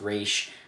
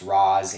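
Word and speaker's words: Ra's: it was commented how that it is pronounced re but it is also pronounced Raz in this movie so I'm a little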